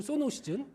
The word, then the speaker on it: 소노시즌: 소머즈 아니고 소노시즌.